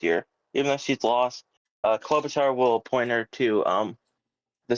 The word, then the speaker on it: Klobuchar: Klobuchar, but now everyone pronounces it differently. No, it's Klobuchar.